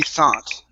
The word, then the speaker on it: thought: Mike could tell she thought try that Mike could tell she thought Mike could tell she thought okay so instead of th th it's an a sound only th th thought good